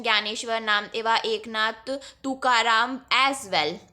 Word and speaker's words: ज्ञानेश्वर: The most important among them were Dhyaneshwar, यानी मतलब इसका pronunciation ज्ञानेश्वर, नामदेवा, Eknath, Tukaram as well.